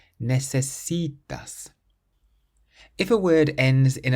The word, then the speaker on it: necesitas: So we stress the C, which is the syllable before last. Necesitas.